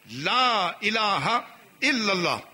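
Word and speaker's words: لا إله إلا الله: لہذا ہاں کا صحیح تلفظ لا الہ الا اللہ محمد رسول اللہ.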